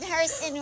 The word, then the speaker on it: Herson: This is the Lamb Chop Show, and my guest today is Herson rhymes with Wait person.